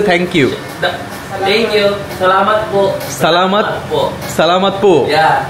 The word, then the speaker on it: Salamat po: Salamat po.